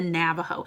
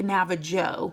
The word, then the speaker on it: Navajo: That is the Navajo. It looks like Navajo, but it's pronounced Navajo. But for spelling, think Navajo.